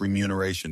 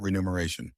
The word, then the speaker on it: remuneration: Money you are paid for a job is spelt pronounced remuneration, not renumeration.